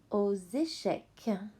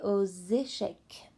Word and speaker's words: aux échecs: Jouer aux échecs. The X turns into a Z sound because the next word starts with a vowel. Okay, so it's jouer aux échecs. And the S is silent.